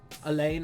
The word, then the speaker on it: Alain: Elaine, I think it's Elaine Poupart. Anyway, I can't, no, I think it's Alan. I think it's pronounced Alan. Anyway, highlights, lowlights, and observations for the sixth.